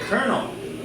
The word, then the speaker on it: colonel: to General right like think of the word Colonel c o l o NL say how can you pronounce it you know but we say colonel right where did the